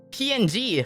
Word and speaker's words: PNG: picture right you're like oh this is a png file not this is a ping file right like i don't know it makes sense to say osk the official pronunciation is ping is it really it's